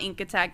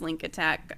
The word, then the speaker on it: Link Attack: Um, so Link Attack. It's not Ink Attack. It is Link Attack.